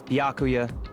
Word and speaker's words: Byakuya: It's Byakuya.